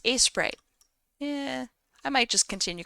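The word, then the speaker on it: Aseprite: is a photosho term it's pronounced as Sprite yeah I might just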